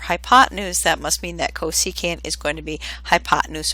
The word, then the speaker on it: cosecant: a new function called the cosecant function it's pronounced cosecant but we abbreviate it CSC and I'll have